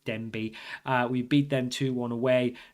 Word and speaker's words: Denbigh: It's Denbigh.